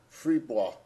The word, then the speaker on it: Fribourg: And then there's Fribourg, or as the French pronounce it, Fribourg, also a small municipality of about 38,000 in western Switzerland.